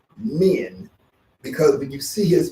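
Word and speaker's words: Min: called the pose of men men is spelled m-i-n this is a pose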